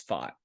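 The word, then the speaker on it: Pfaadt: uh Kelly and uh fought I think is how you say it it's fought um Brandon fought and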